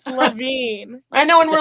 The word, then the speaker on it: Levin: I swear someone called me Levan in the like what are we doing here? It's not Levan. It's Lavine.